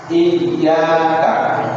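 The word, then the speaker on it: إِيَّاكَ: Ianya ada tasdid di atasnya. Cara baca tasdid ya itu harus ditekan iyaka.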